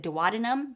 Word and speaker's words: duodenum: The first section of the small intestine is the duodenum. Some people also pronounce it duodenum, so tomato, tomato.